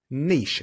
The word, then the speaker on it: niche: we love you but the word is spelled n-i-c-h-e it's a French word but despite that it's a good word Niche Niche not Niche I would niche uh